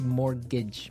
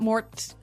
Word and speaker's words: mortgage: with a t yeah it has a t in it but you don't pronounce it you say morgage morgage so not Mort mortgage not morgage morgage